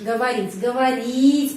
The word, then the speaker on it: говорить: Ты можешь говорить penekanannya di sini. Karena itu O ini dan O ini pengucapannya A, говорить.